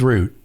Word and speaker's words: route: guess it's Route 66 is it route or root how do you say it I say Route 66 okay well I say should have said root I say root it's root okay I think it's root it's Root roote 6 that's how I've